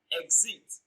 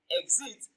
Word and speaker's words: exit: longer release option b exit exit the stress on the first syllable exit it is pronounced louder and longer exists it is pronounced